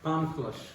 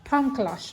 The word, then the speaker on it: Palm Kalash: how do you pronounce the place? Palm Kalash. Palm Kalash, okay.